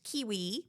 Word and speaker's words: KWE: through my website and even though it's pronounced kiwi publishing it's kwe uh so the website is